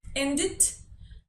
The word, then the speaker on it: ended: Luego tenemos, con los infinitivos que terminan en D o en T, pronunciamos la E como una I. Ended and waited.